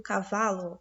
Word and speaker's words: cavalo: Se a sílaba tônica é a penúltima, como no caso do cavalo, cavalo, O vá é a sílaba mais forte e ele tá onde, ó?